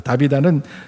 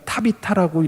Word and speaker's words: 타비타: 근데 다비다라는 말은 사실은 발음이 조금 달라요. 다비다는 정확하게 말하면 타비타라고 발음을 해야 되는 거예요.